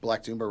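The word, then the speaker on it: Black Doomba: Um can you tell us a little bit about uh I want to make sure I pronounce is it Black Dooma? Black Dooma Records.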